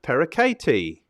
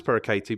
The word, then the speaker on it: Pereckaite: is an ex-fitness coach today's guest is christina perakati and i meant to check that that's how you pronounce parakati before we started but i didn't yes awesome